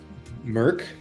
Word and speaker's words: mIRC: to know whoever did you ever use uh Merck mirc call the Queen yeah that's how it's pronounced um Merck yeah mirc oh I never did that was